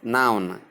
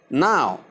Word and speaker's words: now: Commonly mispronounced as noun. Please take note of that. I have said some of these before now. Correct usage is now means at the present moment. There is no second n, that is n, in its pronunciation, but simply now, and that is all.